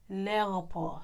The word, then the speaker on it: l'aéroport: You don't say the L apostrophe and then say the noun separately. Because because it's a vowel, when you're pronouncing it, you say the L apostrophe with the noun all together. They jam into each other.